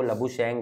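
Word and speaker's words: Labuschagne: बड़ा मसला है, कि वो जिस तरह से लिखते हैं अगर हम देखें तो वो चैगने बनता है, तो वो ये है कि वो लबु शेंग है, कुछ लोग उसके एस भी साइलेंट करते हैं, तो गिब्स ने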